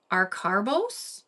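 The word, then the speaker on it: acarbose: say say this wrong but there's something called AR caros probably saying it wrong a c a r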